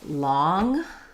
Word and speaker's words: long: So looking at these three words, for lawn, we have the ah vowel. For long, long, we also have the ah vowel. Here we have the n, here we have the ng. And for lung, we have the ng, but the schwa vowel.